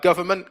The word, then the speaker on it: government: tilde's picked up on government came up obviously with a silent n um combustion combustion silent